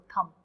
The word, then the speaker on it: thumb: जैसे थंब है, when you learn the spelling of थंब, THUMB थंब, बट TUM बोलते हैं इसको, थंब. Thumb.